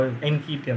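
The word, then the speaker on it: Nketiah: Or how Enkitia, that's how you pronounce it.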